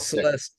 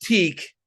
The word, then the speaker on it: Celestiq: uh, not Celeste. Celestique, Celestique. They're very rhymes with lyric. Their other new EV. Okay. Yeah. So and I kept going. So it's tick, not teak, and they're like, yeah, it's tick.